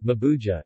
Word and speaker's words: Mabuiag: The name Mabuig, Mabuja, in English pronounced, a European mispronunciation, is fairly widespread as